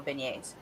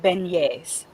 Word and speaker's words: beignets: is yes it's pronounced beignets it's a it's a French term but it's spelled as you can see you know how French is there's always extra letters there that you don't have to pronounce but yeah it's pronounced